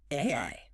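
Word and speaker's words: 愛: It's pronounced AI.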